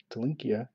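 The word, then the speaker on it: Ntilikina: There is Frank Tolinka of 129. I know the N is silent from what I understand.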